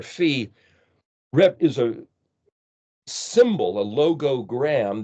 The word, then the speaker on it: phi: Phi is the way it's pronounced, as in philosophy, which has to do